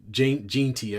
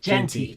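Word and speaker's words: Jeanty: Um, and Ashton Jenty, I got to say his name right. Ran for negative one. Genty.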